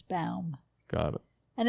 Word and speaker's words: Baum: a little nervous there spelled like b o w n but it's Bal got it and it's